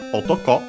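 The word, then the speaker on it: 男: Then we have the possessive particle After that, we have otoko, which means man. Should be on its own accented on the last syllable.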